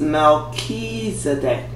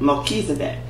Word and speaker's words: Melchizedek: Okay, his name is pronounced Melchizedek. Melchizedek.